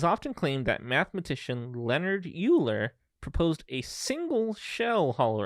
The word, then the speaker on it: Euler: so first question is his name uh like e-u-l-e-r exactly okay uh his name is pronounced euler um what uh yeah i didn't